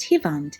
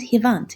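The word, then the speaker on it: հիվանդ: Sick is pronounced hivand in Eastern Armenian and hivant in Western Armenian.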